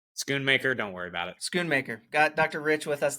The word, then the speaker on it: Schoonmaker: Did I pronounce that correct? Or is it Mocker? Schoonmaker, don't worry about it. Schoonmaker.